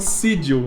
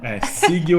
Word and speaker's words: Sigil: Só que a gente falou Sigil, a gente falava errado. Eu falei errado minha vida inteira o nome dessa cidade. Até a gente assistir um vídeo do Chris Perkins falando Sigil. Sigil é a pronúncia certa, então se você for ver nossos vídeos de planos lá... Assistam, porque eles são bons, mas a pronúncia tá errada.